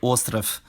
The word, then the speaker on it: остров: First, if a voice plosive or fricative is at the end of a word, it loses its voice like in snek and ostrov.